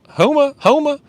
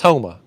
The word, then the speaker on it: Houma: Greg Burgess in the house from Houma, Louisiana. I always mispronounce it. I think it's Houma.